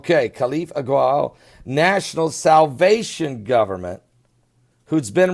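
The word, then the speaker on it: Khalifa al-Ghawil: Now, the other government, meanwhile, the international revoked government, and here's the pronunciation on that one. Khalif Agwal. Khalif Agwal, National Salvation Government, who's been revoked and had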